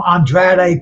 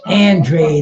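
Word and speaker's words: Andrade: man will you cats who call him andr please stop that today you're going to listen to um Jimmy lennin Jr announce his name as he wants it pronounced and that's Demetrius Andre like bandaid Andre you know I mean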